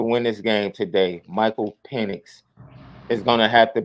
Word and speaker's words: Penix: Is his name, is the correct pronunciation Michael Penix? It's Penix. So now you forced it by changing the E sound.